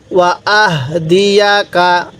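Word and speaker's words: وَأَهْدِيَكَ: ওয়া আহদিয়াকা ওয়া আহদিয়াকা এই হাটা পড়তে আমরা অনেকে উচ্চারণটা ভুল করি এই হাটা উচ্চারণের সময় মুখ দিয়ে আওয়াজ বের করব আহদিয়াকা আমার সাথে বলুন তো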